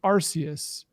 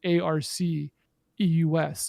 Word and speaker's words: Arceus: saying and josh has been saying pokemon legends arceus because that sounds like the name of a pokemon and how you would pronounce something spelled arc eus in the english language turns out it might